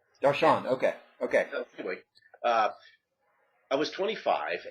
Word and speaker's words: Darshan: And how I generally pronounce that is Darshan. Darshan, okay.